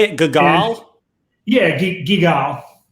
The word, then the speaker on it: Guigal: Yeah, GUIGAL. GUIGAL.